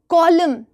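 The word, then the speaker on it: column: एम के letters बहुत कम silent होते हैं। एम से रिलेटेड फाइव वर्ड्स आपने लिखने हैं। एन बताओ। एन कॉलम, autumn, कंडेम, हाईम, सॉलि डैम बोलते हो कि नहीं बोलते हो?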